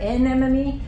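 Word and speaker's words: NMME: clue to the pronunciation if you hit the N really hard n mme it comes out sounding a little less like enemy uh so just if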